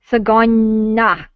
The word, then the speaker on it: Tsgoyna: I hope I'm not mispronouncing your name. Tsgoyna. Tsgoyna.